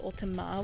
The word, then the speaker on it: Ultima: like Final Fantasy, because it's not Ultimate, it's Ultima. But yes, I can definitely call you Ultima.